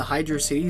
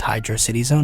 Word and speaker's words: Hydro City Zone: Like, after that first drop into Hydro City Zone, yeah, it's pronounced Hydro City Zone, none of this hydrocity bullshit.